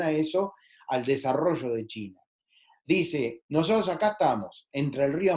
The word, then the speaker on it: Qin: pero quedó la dinastía chin como su apellido cu y n que se pronuncia como una c h entonces de segundo punto